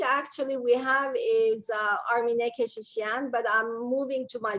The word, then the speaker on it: Keshishian: You can pronounce that, Kardashian. That's easy. Yeah, that's easy. It's it's Keshishian. Very similar, Keshishian.